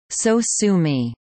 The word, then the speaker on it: sosumi: The sound was later renamed to Sosumi, to be read phonetically as Sosumi.